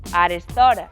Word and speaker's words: arestora: Arestora é só con o aberto. Arestora.